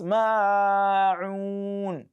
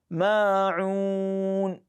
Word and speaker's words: الْمَاعُونَ: So many people also pronounce it as ma'un. Many people make this mistake too. So it is ma'un, madul asl. That is a fundamental mad, just twice. Ma'un, ma'un, ma'un.